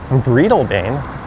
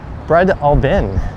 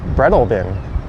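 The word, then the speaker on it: Breadalbane: But I've always called it bridal bane. Not sure why it's b r e a d instead of bread albbane which I think is what most people mispronounce it as but it's actually bread albin. Brealbin. So it's more like b r e d a l b i n.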